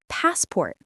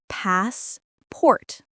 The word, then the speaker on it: passport: The word passport. Many learners say pass-port very slowly, but native speakers say it faster, passport. Like baseball, but with a P.